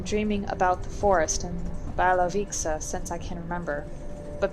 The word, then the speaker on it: Białowieża: old churches, and visiting Białowieża National Park with me instead. I'm assuming it's the W is pronounced as a V because I assume we're in Germany.